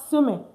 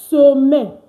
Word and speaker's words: semaine: La semaine. Okay? Very simple. Don't say semaine. Don't say semaine. No. It's la semaine. La semaine.